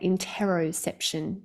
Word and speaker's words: interoception: There's a concept called introception. Now, some people say it interoception, depends on how you pronounce.